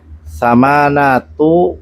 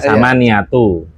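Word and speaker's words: ثمانية: Ayo samanatu samanatu tambah salah. Apa itu samanatu? Enggak ada bilangan samanatu. Enggak ada masa bacanya samaatu? Gak ada samaatu. Astagfirullah. La haula wala quwata illa billah. Mata ya. Kalau kalau anu ada samaniatu samani bukan sama niatu bukan bukan bukan.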